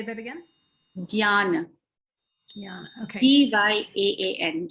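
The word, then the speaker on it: ज्ञान: Jnana. Jnana. Okay. Gyaan. Gyan. Gyan means knowledge. Okay. I spelled it phonetically, which was wrong.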